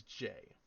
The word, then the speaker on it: Jai: but then there was Jay or Jai it's spelled j a i but I'm assuming it's pronounced J I mean that's how